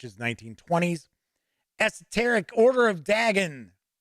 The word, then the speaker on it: Dagon: Angelic ones which is 1920s esoteric order of Dagon Dagon some people pronounce it that way sweet that's very cool